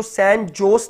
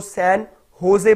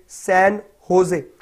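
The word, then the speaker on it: San José: देखिए यहां पर जो स्पेलिंग है जे ओ एस ई है, इसको सैन जोस नहीं पढ़ेंगे, इसको जोस नहीं बोलेंगे, इसको सैन होजे बोलेंगे. सैन होजे.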